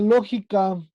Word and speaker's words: lógica: La palabra lógica Esdrújula. es una palabra esdrújula.